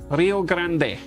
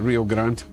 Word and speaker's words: Rio Grande: If you live south of the American border, Rio Grande, that is how they say it. So, we're all the adults for calling it real grand. Rio Grande. Grande. Grande as opposed to grande, you know.